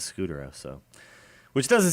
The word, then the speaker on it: Scutaro: I always when I didn't hear announcers say his name and I just read it, I always thought it was Scutaro. But yeah, everybody says Scutero.